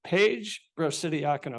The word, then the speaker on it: Brocidiacono: Brocidiacono, Paige Brocidiacono. Excuse me, Paige. I got it right. I think I pronounced it right too, right?